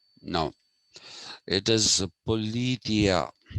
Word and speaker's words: Politeia: ask us to say politia no it is politia politia actually there's a greater emphasis uh on the tia it's yeah that's how